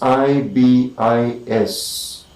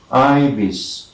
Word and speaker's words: ibis: ibis it is written the spelling is i b i s and it's pronounced ibis ibis i this two syllables i bis ivis